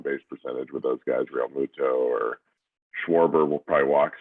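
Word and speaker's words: Realmuto: Real Muto.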